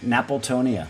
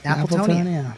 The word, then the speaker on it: Napiltonia: Napoltonia. Napoltonia.